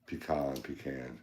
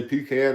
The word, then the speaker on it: pecan: Pecan. How do you say pecan or pecan?